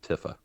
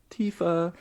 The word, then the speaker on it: Tifa: and uh he he said meiko but said tifa correctly good job for getting tifa correctly as i said earlier i said tiffa because i i probably said i said it